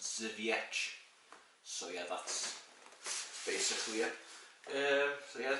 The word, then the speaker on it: Żywiec: bottle and I was like yeah this is wayak looks nice anyways no no no it's pronounced zevich so yeah that's basically yeah so yeah it's